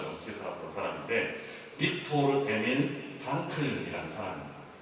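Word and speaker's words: Frankl: 그래서 한 90살 정도까지 90살 넘게 살았던 사람인데 빅토르 에밀 프랑클이라는 사람입니다. 아마 우리 친구들 중에서는 빅터 프랑클이라고 알려져 있는 프랭클이라고 영어식으로 발음해서 알려져 있는 사람일 겁니다.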